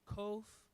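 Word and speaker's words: ק: people say k sound some people say q but that's kof then we have the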